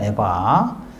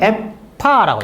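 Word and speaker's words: אֵיפָה: 그럼 이게 히브리어로 이게 에파라고 하죠. 에바. 에바인데 히브리어로 에파 이렇게 됩니다. 에파. 이거네요. 죄송합니다. 알렙이 아니고 해네요. 에파 이렇게 되어 있습니다. 에파. 에파. 에파. 예. 원래는 발음이 에파입니다. 히브리어로 에파.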